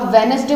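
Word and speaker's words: Wednesday: और एक वेडनेसडे, ठीक है, यहाँ पर डी साइलेंट हुआ था। वेडनेसडे बोलते हैं ना, वेडनेसडे तो नहीं बोलते, तो वेडनेसडे।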